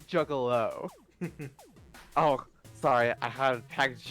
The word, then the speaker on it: Juggalo: I want nothing to do with the juggler piece of shit and whatever the hell you are. Juggler? He lifts an eyebrow. Solix, it's pronounced Juggalo.